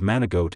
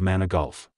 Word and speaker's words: Manigault: high school teacher who constantly mispronounced his name as mana goat instead of its correct pronunciation of mana golf whatever the origins of